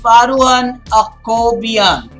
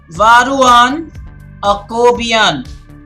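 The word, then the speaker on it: Varuzhan Akobian: It's Grandmaster Varuhan Akobian. Varuhan Akobian. This particular Z kind of is silent there.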